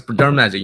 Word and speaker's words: Dermagic: No, it's Dermagic. You want to spell it out?